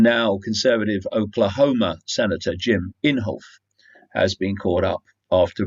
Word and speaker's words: Inhofe: on Republican Jim Inhofe it's called Inhofe I did check pronunciations that's what they said it was Jim Inhofe dumped up to four